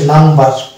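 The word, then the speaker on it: number: তাহলে ইটা আকার হয়ে যায় তাহলে এটা হচ্ছে নাম্বার তাহলে এখানে ন উচ্চারণ আসছে বচ্চার আসছে তাহলে শব্দের মধ্যে আমরা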